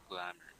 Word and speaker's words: glamour: Glamour. First syllable. Okay, good. That's first syllable.